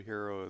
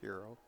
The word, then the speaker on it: Hiro: h i r o I think it's pronounced the same way as h e r o yeah hero hero yeah